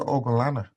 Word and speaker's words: Ogunlana: Ogunlana. And then you correct them, say it's Ogunlana. There's only three different syllables. Mm. Ogun, Lana. Like you can say it.